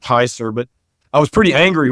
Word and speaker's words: Hser: It's HSER. I think it's pronounced Heiser.